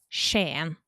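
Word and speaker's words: Skien: But so like for example in modern Norwe like Norway, we have a city called Shan. It's spelled es sken, which if you read it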